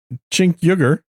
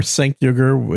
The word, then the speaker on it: Cenk Uygur: And apparently, according to Cenk Uygur, or Cenk Uygur, if you want to mispronounce it. I usually do. TSB says I can't pronounce any words. I know. But it's a Turkish name, so it's not an easy name to pronounce.